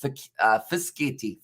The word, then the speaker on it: Fischetti: It's pronounced Fischetti. Fischetti.